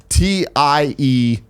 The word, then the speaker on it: Tidux: should follow him at TIDUX. It's like Teases from Final Fantasy X, but with an X at the end. But he goes by Tidux.